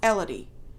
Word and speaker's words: Elodie: I don't understand why you cannot pronounce Elodie. It's like a melody.